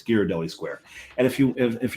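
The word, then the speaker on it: Ghirardelli: girelli you're wrong it's giradelli there's a sign on the wall that tells you how to pronounce it but also it's Italian you put an H after a g it's a hard G you put an H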